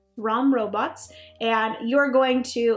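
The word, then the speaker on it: Rhom: going against an AI this is called the ROM robots I believe that's how you pronounce it r h o m ROM robots and you're going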